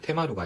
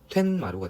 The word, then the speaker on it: 툇마루: 써주시면 되겠습니다 자 그리고 퇴라는 한자와 마루라는 우리말이 만나면 테마루가 아니라 툇마루가 되니까 이것도 마찬가지로 써주겠죠 이번에는